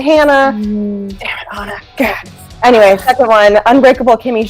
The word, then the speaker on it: Hannah: up kids because then they want to pronounce my name Hana and I'm like it's a Hannah anyway second one unbreakable